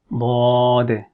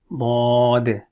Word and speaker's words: ض: It is one of the heavy letters. When we are pronouncing it, then we don't make the facial expression as if you're going to smile, or our mouth or the lips doesn't remain flat.